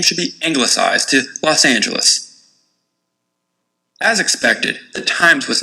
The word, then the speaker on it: Los Angeles: The official pronunciation would be Los Angeles.